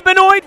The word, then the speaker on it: Benoit: this week as well Andy Bennett rhymes with Detroit he's at a Sports